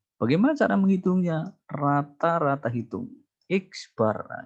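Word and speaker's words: x̄: cara menghitungnya rata-rata hitung X bar nah ini bacanya X Bar adalah jumlahan Sigma Oke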